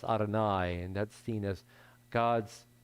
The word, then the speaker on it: Adonai: hay or sometimes a yud yud both are pronounced adonai and that's seen as god's most direct name